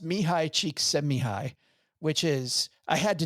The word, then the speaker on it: Mihaly Csikszentmihalyi: It's pronounced Mihaly Csikszentmihalyi.